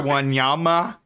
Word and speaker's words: Wanyama: correctly, is on Victor Wanyama. Wanyama, there you go, Wanyama. Wanyama. Easy pronunciation, bro. Wanyama. That's even how it's spelled.